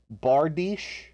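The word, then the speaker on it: bardiche: really cringy pronunciation youtube channels uh do you pronounce bardich bardish bardish yeah that makes sense i'm going to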